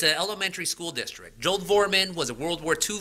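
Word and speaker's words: Dvorman: the name of Joel Vorman, or D-V-O-R-M-A-N, however you pronounce it, sorry. I'll say Vorman.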